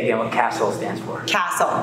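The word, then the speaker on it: CASEL: what castle stands for castle castle is the collaborative of academic social and emotional learning so it's spelled c-a-s-e-l that's castle outstanding thank you thank you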